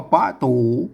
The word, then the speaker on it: ป๋ะตู๋: ภาษา ล้านนา ตำบล เนี่ย ต้อง อ่าน แบบ ภาษา นานา นะ ครับ อ่าน ว่า ป่าตู๋ ป้า ตู๋ ประตู นั้น อัน ภาษา ล้านนา